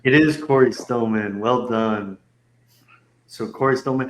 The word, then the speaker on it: Cory Stillman: that how you say his name it is Corey Stillman well done so Cory man had 880 points